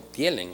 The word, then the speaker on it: Thielen: Bueno, por aquí me está preguntando un televidente si tu apellido se pronuncia Tilen o tielen, o sea, Ajá. Sí, realmente se pronuncia tilen, pero yo siempre lo he pronunciado tilelen.